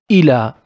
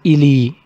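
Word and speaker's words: إلى: If we found it without dot, we don't give it e sound. We don't pronounce it like this. We pronounce it like a. The most common example for it is ila.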